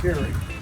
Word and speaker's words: Koehring: If you Google or go to YouTube and type in Koehring or Koehring dumpter, and Koehring is Koehring, and it's pronounced Koehring.